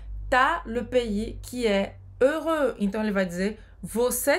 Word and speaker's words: heureux: Heureux, que significa feliz. Faz a boca do O e fala E.